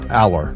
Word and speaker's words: Aller: it's crazy it's absolutely crazy so I saw allar is that how you say his name all all Aller that's right um he practiced he he was